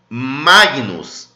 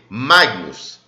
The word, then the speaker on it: Magnus: Magnus. Aqui a gente tem que pronunciar o G. Magnus. É meio que vira ali um NH. Magnus.